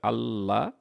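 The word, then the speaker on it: الله: আমাদের যেটা মনে রাখতে হবে সেটা হলো আল্লাহ যে শব্দটা সেটার উচ্চারণটা করার সময় আমাকে এক আলিফ টান দিতে হবে। অর্থাৎ দুই হারাকাত হবে আল্লাহ এবং তার সাথে যে খারা জবর আসে সেটার জন্য আ টানটা একটু বাড়িয়ে দিতে হবে।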